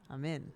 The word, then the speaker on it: Amin: I'm in. That's how you say his name.